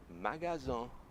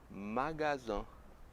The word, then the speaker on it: magasin: É o seguinte, em francês, loja é magasin, magasin.